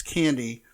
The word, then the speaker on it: Candi: pronounce her name but can are like said Candice it's candy she's a Denver City Councilwoman